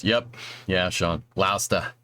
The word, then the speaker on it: Gloucester: But you lived in Gloucester for a few weeks before I knew how it was pronounced. Yep. Yeah, Sean. Gloucester. Gloucester. Yep. Yeah, you got to go up to Gloucester, get some good fish while you're at it there, dude.